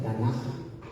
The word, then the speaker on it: Tanaj: Les puse aquí el acrónimo TNK, se pronuncia Tanaja. La K es como una J.